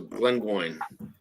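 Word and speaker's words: Glengoyne: so all right so Glen Goin okay Glen go rhymes with coin got it okay I'll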